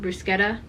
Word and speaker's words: bruschetta: type out bruschetta or someone told me it's pronounced brusketta uh so I just called it clay but